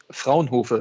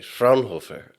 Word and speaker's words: Fraunhofer: And then, of course, also pronouncing the name of your company, please. Yeah. Fraunhofer it is. Okay, Fraunhofer.